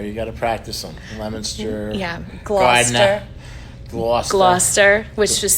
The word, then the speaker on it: Leominster: Okay, and you guys would say near Leominster, but it looks like Leominster if you're from Indiana, like me. There's some unique names around here. You got to practice them. Leominster.